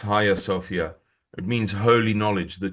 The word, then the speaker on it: Hagia Sophia: It's written hagia Sophia, but it's pronounced higher Sophia.